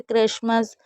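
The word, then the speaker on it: Christmas: भी बता दूं कि ये कुछ ऐसी वर्ड मीनिंग है जहाँ पर टी हमेशा साइलेंट रहता है, लेकिन ये टी के साथ सी एच नहीं है, लेकिन इसमें हम भी टी को नहीं पढ़ेंगे।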